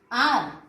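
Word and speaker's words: hour: So honest में एच से ये शुरू हुआ है, लेकिन एच is silent here. आर, एच is silent here.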